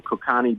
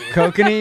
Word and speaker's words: Kokanee: We got some Kokani beer. Oh, Kokanee? Kokanee, you mean? Kokanee, whatever. I don't know. Is that how you pronounce it? Yeah, kokanee.